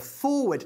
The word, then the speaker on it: forward: To forward, se escribe forward, pero se pronuncia forward. Con dos sonidos que no existen en castellano. Una O larga, for, y luego word, okay? Word, forward.